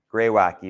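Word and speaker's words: graywacke: variation of sandstone called gray wacky sometimes people will just call this wacky gry wacky is what I learned so that's what I call it okay but that's how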